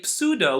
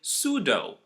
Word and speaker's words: pseudo: psychology we say psychology we never say pseudo we say pseudo for the third word